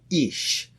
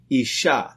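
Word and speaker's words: איש: The word for man in Hebrew is called Ish. That's spelt with an Aleph, Yud, and Shin.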